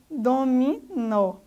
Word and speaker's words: dominó: Por exemplo, dominó. A sílaba tônica, a sílaba forte, é o nó, a última sílaba.